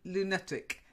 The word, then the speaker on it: lunatic: You're still saying lunatic. Lunatic. No, lunatic. No, lunatic. It's okay? I would say the schwa's not quite schwary enough for me.